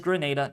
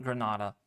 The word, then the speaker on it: Grenada: the pronunciation on that so it is Grenada not Granada makes sense all right